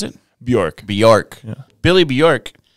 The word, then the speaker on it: Bjork: If you guys are down to get into that, so Billy Bjork, is that how you pronounce it? Bjork.